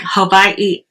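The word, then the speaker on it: Hawaiʻi: Whenever you see that apostrophe, it's almost like another syllable. You take a pause and then enunciate the last syllable or vowel. And so it's like Hawaii is how he was saying it.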